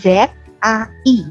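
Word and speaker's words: zài: Z I, nadanya nada keempat. Nada keempat itu turun ke bawah, berarti bunyinya zai.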